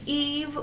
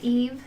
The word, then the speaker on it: Yves: My name is Eve, Y-V-E-S, Eve. The S is silent.